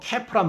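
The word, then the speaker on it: calf: 송아지는 영어로 캐프란 말을 쓰는데요. 이 L이 묵음이에요.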